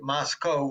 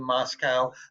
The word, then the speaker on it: Moscow: And the locals say you pronounce it Moscow rather than Moscow. They want the name, they say to rhyme with Costco.